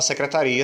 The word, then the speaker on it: secretaria: Na palavra secretária, eu não separei o i e o a. Na palavra secretaria, sim, eu separei o i e o a.